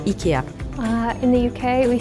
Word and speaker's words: IKEA: like Smooth language so in Sweden we say Ika in Germany we say Ika in Belgium we say Ika uh in the UK we say Ikea in